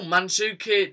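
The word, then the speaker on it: Mandžukić: So oh, Mandzukic, Sewell, and Pierres.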